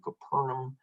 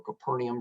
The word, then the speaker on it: Capernaum: peter's house uh we think it there in capernaum or capernaum depending on how you'd like to pronounce it and touched his mother-in-law and he'll